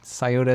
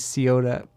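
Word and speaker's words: Scioto: in ohio where there's a variety of local pronunciations like sciota coyotes seota i don't know anyways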